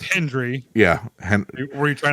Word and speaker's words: Hendry: say his name and he say his name right. It's Hendry.